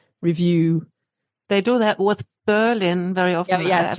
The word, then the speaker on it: Berlin: They do that with Berlin very often. Yeah, yes, right. Discovered, Berlin. Yeah, Berlin. exactly. Yeah, it's this 2 syllables.